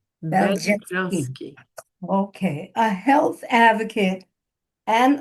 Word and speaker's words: Beljanski: Beljanski. Beljanski.